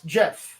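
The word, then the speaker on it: Geoff: become good friends but it's not with a g or not with a j it's spelled with a g g o f i'm gonna pronounce jeff it's french well uh okay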